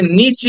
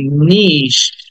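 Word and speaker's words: niche: then the next word is নিশ আমরা এটাকে নিচি বলি নিচি অনেকে নিচি বলি অনেকে নিচ বলে বাট উচ্চারণটা হবে এরকম নিশ ইটাকে টেনে বলতে হবে লাস্টে একটা সন্ড স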